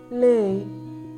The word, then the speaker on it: læge: L combined AE sounds like lay, lay, lay, lay. It is little bit longer.